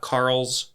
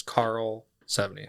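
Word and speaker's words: Karlsefni: So, yeah, it's not Carl's, it's Carl Sean. Okay. Yeah. Carl Sean. Yeah. Thank you. The F is weird. It throws it off because English we want to pronounce it, but Yeah.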